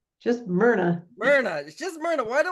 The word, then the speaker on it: Myrna: if I get it right and is it Mira just Mna Mna just Mna why do I have a hard time with that I have Ann Mna and he is playing Angelica Grace in Night